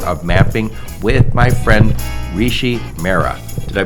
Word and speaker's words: Rishi Mehra: the transformative power of mapping with my friend Rishi Mera did I pronounce that name you got that right Joe